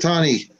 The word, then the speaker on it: Punxsutawney: Punxsutawney or whatever. Punxsutawney. How do you say that? Punxsutawney.